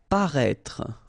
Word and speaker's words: paraître: Paraître, okay, so if you remember from the first video, then we had as well this accent circonflexe on the top of E here, but then you don't pronounce it, okay, so you should write it definitely, because you know that's the correct way to write it, but then you don't pronounce it. Paraître, okay, same thing, final E is not really pronounced, so paraître.